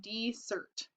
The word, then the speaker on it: Desert: is on an island called Mount Desert she pronounced it dessert ice cream cookies brownies